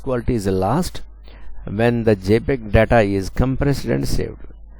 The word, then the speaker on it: JPEG: JPEG అంటే short for Joint Photographic Experts Group and pronounced JPEG, is a file format best used for photo images which must be very small files.